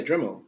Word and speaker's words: Dremel: Am I saying it right? Dremel. Yeah, Dremel.